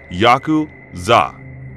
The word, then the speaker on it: yakuza: cards to draw are eight nine and three pronounce yaku Za in Japanese the implication being that